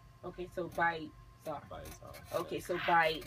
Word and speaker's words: bytzar: page um and it's byar my handle by y TZ a r okay so byar okay so by b y then t z a r okay the T silence remember that all right we'll go